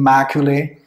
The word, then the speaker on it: Macaulay: Some people known as, pronunciation Macaulay. That is the correct pronunciation.